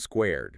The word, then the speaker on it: SQRD: But just so we are all on the same page it is pronounced squared.